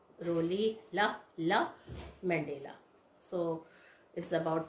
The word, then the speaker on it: Rolihlahla: How you will pronounce? Rolihlahla Mandela.